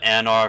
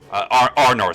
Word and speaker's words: Arnor: A guardian of the Anor family? Arnor, sorry. Arnor. Pronunciations. Arnor.